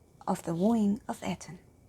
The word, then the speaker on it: Etain: I also heard the pronunciation Aiden or Etain, but I think Etain sounds most correct to my ears at least. But if you happen to